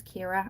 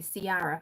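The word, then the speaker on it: Ciara: My name is Kira and it's a C like C I A but people will see it and say Sara over here or car is another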